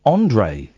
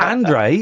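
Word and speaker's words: André: you why go on his name's pronounced Andre it's not Andre andrex Andre andrex the toilet role yeah Andre Agy Andre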